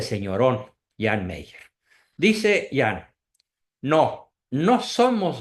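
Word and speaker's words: Jean Meyer: muy asertivo muy valeroso se escribe hean Mayer con y se pronuncia Jan Meyer este señor escribió eh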